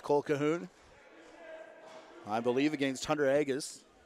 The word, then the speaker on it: Agus: As crouching in, James Colquhoun, I believe against Hunter Agus. And we were corrected on that pronunciation. Apologize for it being wrong earlier in the season, but Agus with it now as he comes up and across center.